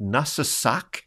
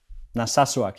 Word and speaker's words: Narsarsuaq: local pilot from a town called, is it Narsarsuaq in southern Greenland? Narsarsuaq, yeah. Yeah, it's a difficult name to pronounce, but yeah, it's Narsarsuaq.